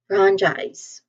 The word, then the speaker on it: franchise: Pronunciation wise the first syllable fran it is pronounced with a short a vowel sound as in cat.